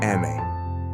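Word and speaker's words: emme: M, pronounce Eme.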